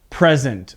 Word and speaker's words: present: and focus on the present, okay? So I want you to listen to the difference in pronunciation as a verb. Present, present, present, present, okay? So you can hear the difference in my voice.